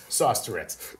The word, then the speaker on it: Saustourettes: It's sauce like spaghetti and Tourette's like the syndrome. Sauce Tourette's.